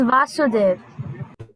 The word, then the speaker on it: Vasudeva: right is this vasudeva he's the son of wasudev and he is vasudeva nice vasudev and his father is vasudeva so we should be careful of pronunciation okay his father is